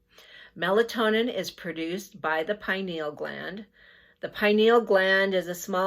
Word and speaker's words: pineal: Or I've heard other people pronounce it pineal. I was always taught pineal, so that's what I'm going to refer to it as.